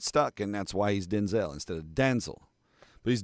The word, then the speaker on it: Denzel: He told Jimmy Kimmel his name is not pronounced Denzel. Quote, "My name is pronounced Denzel," Washington continued, using a clipped E vowel in the second syllable instead of a long vowel. Denzel. Denzel. The emphasis is on the first syllable.